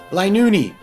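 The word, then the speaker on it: Linoone: that would fit better linuni i i know it's pronounced linux don't worry i just find it ridiculous that it has an unneeded e at the end of its name as both zigzagoon and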